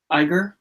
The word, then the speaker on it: Iger: And speaking of higher ups, Bob Iger, yeah, that's how you say his name.